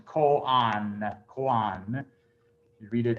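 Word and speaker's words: koan: hear people pronounce this cone because of our western mind you know you think like road oa has an oh sound no it's ko on that quan you read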